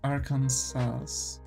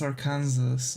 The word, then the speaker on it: Arkansas: like different media where the name was pronounced Arkansas, not Arkansas. So I've learned that the pronunciation is like that, and so it's like when the person was pronouncing all these states and they said Arkansas, I was like dumbfounded, like what? especially American, yeah. Why would you pronounce it in the French way?